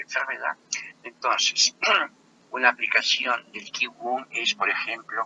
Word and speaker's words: Qigong: el desplazamiento, que tiene su nombre original de Qigong, se pronuncia Qigong, la palabra Qi significa energía, la palabra Gong significa la estrategia para mover la energía.